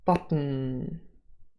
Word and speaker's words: bottom: There's a schwa and an in the final syllable. And if the schwa is dropped, bottom can become botten, botten. And again, we have a syllabic consonant in the final syllable, and the schwa has disappeared.